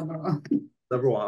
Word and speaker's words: Subberwal: I have Subberwal. Yeah, so Subberwal. All right, great. yeah. I'm glad that I was able to pronounce it correctly.